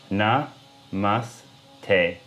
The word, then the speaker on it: namaste: North India namaste so first I'll sound it out then I'll pronounce it and then I want you to repeat it after me and just keep rewinding and practicing until you've got the pronunciation right na mas teh namaste namaste namaste okay say what I